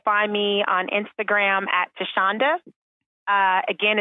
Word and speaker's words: Thasunda: you can also find me on Instagram at tashonda uh again it's not spelled the way it's pronounced that's a 70s baby t h a